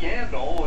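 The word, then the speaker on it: Yandle: We saw it a couple of times last night at Yandel, and it's perfect because his name rhymes with handle, and he was having all kinds of trouble handling the puck here tonight.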